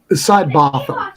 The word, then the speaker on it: Sidebotham: Sidebotham.